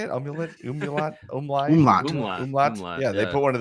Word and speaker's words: umlaut: Like an amulet over it. Is that how you say it? Amulet? Umlaut? Umlaut.